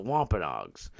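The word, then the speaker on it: Wampanoag: It's spelled Wampa Noag, but it's the Wampenogs.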